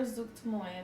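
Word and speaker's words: Zuggtmoy: Or you could call her Zuktmoy, apparently. Look, I've got the big giant, the snout, and not it's Zuktmoy.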